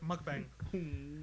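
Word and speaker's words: 먹방: Yes, because it comes from the words Myeoknyun and Bangsong, which mean eating broadcast. So it's short, mukbang.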